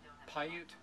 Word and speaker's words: Paiute: Paiute.